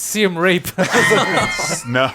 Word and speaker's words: Siem Reap: the name of the no he's mispronouncing it's Siem Reap oh gosh Morgan Jr